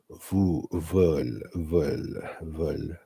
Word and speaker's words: veulent: And the thing is that you have to pronounce it with the e, but you do not pronounce it with the n and the t.